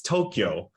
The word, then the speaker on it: Tokyo: who's covering the olympics it's not tokyo okay and it's not that's not how you pronounce tokyo that's not it's tokyo there's no key there's no like there's no ire in there there's no vowel between that it's tokyo so anybody